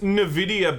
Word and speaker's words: Nvidia: me but who knows it's pronounced Nvidia by the way guys yes strain the video still don't know NVIDIA Nvidia every comment the comment section is being very clear about this so they definitely believe it's in video so Nvidia Oh 420